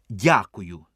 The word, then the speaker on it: дякую: Спасибі чи мерсі кажіть дякую тільки Робіть наголос не на я а на у Дякую дуже ефектне слово